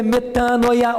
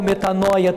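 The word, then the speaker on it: μετάνοια: Mas é aquilo que está no grego, que é metanoia ou metanoia, tem as duas pronúncias.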